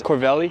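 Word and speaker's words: Covelli: Is that how you say it? It's Corvelli. So this is my first time here at Corvelli.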